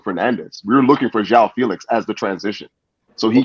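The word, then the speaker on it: João Félix: But we can all agree that when Yao Felix, I'm saying his name wrong every time, João Felix. Yeah, Zhao.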